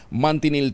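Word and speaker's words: manchineel: silungan mo lang ha delikado na oh ang mantinel 3e Ah mantinel pero ang spelling po niyan eh m n c h i n e e l ha Parang machin pero ang pronunciation po niyya yan mantinel tree Ito po pala ay talagang napakadelikado ano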